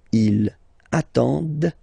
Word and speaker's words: ils attendent: the plural form, ENT, but then you don't pronounce them. Ils attendent, okay, so remember you get to pronounce this, the D at the end, okay, elles attendent, all right, if you make the link, ils attendent, elles attendent, okay, so let's read them.